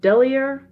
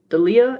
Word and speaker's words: Delia: I'm not sure if this is pronounced Delia or Delia. It's D-E-L-I-A. I would say Delia.